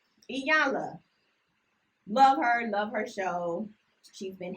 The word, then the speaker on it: Iyanla: I had to talk about Iyanla Vanzant. I said her name right. I did. Okay. I had to make sure I said it right because I always say it wrong. Iyanla.